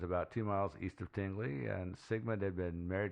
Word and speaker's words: Tingley: england uh and i i'm pretty sure i'm pronouncing that correctly because i've seen various videos interviews stuff like that i first assumed it was tingly because who the hell would name their town tingly but apparently the british